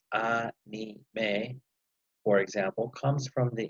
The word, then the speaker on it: anime: The Japanese word anime, pronounced anime, for example, comes from the English animation, or what the kids know as cartoons.